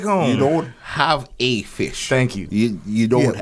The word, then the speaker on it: Phish: Oh, there's this group in America called Fish. Yo, That really is a group. It's spelled PHISH.